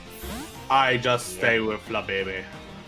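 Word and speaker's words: Flabébé: thing the bay and the last one you uh pronounce from the English word bee the honeybee. But it's really flab baby. That sounds so awkward. I just stay with flab baby.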